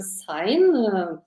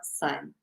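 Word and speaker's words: sine: I'm using English pronunciation sign if for example Slovian group normally pronouncing senos but in this course I will pronounce as sign exponential functions like numpy.x X of X showing rapid growth.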